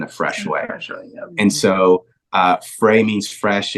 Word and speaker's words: Frais: Frey Church. You said it right, Tim. So happy for that. Let's go. So it's FRAIS. Means fresh, and I'm gonna mess it up because our campus pastor is French, right?